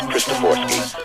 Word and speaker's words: Christoforsky: It's actually pronounced Christoforsky. Okay. And it's Polish.